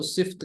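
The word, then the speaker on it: सिफ़त: अब ये दरअसल उर्दू में हम सिफत कहते हैं, कुछ लोग इसको सिफ्त कहते हैं, जो कि गलत इसका प्रोनाउंसिएशन है। सही पढ़ेंगे उर्दू में सिफत, लेकिन ये उर्दू का लफ्ज़ है।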